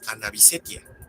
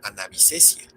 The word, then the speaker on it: Anavisetia: O como en Anavisetia, que es en honor a Ana María Bisset, por lo que no sería Anavisesia.